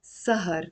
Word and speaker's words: سهر: Now what's سهر? There is a fatha on the scene and the fatha on the ha.